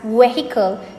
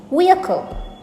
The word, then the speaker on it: vehicle: It is vehicle. Vehicle. Notice the UH sound in the middle of the word.